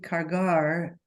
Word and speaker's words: cargar: Cada senderista debe cargar, is that with a hard G there? Cargar, sí.